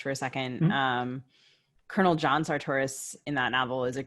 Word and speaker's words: Sartoris: down to Mississippi, and the people at the Faulkner conference in Oxford say Sartoris. Too bad for them. I'm not changing. Okay. Well, I've been told that Sartoris is in effect my Yankee pronunciation, and I'm gonna go with the local version.